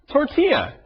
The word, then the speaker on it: tortilla: So when you see the two L's together, it makes a different sound. Tortilla.